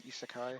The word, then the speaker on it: isekai: Oh yeah, Ishikai, I think it's pronounced, but In isekai. uh, Isekai.